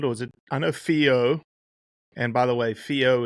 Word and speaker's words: whio: in the past cuz I think I called it a Wo the first time I said it cuz it's spelled whio. That's right. And in our language wh makes a f sound. Yeah. And everybody climbed into me. It's not a weo, it's a fo.